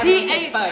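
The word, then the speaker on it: phở: Like, P-H-O, like pho, but it's pronounced pho.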